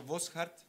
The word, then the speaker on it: Boschart: En tercer lugar, voy a presentar a Ricardo Boschart. ¿Está bien pronunciado el apellido? Está muy bien.